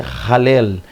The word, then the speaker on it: Hallel: aqui da está vendo está com H aqui tá mais a pronúncia ralé ralé que que é um